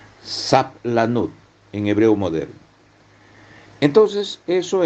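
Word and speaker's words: סבלנות: a u b l a n u t sapl lanud en hebreo moderno Entonces eso en nuestra mente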